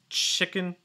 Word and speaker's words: chicken: really quick about pronunciation chicken chicken nose against short eye sound chick so it's not cheek chicken and also it's not chicken it's not can it's more you're really closing your mouth not letting too much